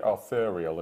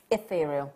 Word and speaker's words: ethereal: I always say arthurial, and it's not arthurial, it's... Ethereal.